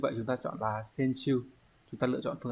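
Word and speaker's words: 選手: Còn 1 với 3 thì chữ tuyển sẽ đọc là sen. Như vậy chúng ta chọn là sen siêu.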